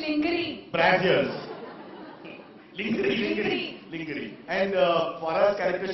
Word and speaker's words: lingerie: Lingerie is mispronounced in this country. Brassiers. It is lingerie.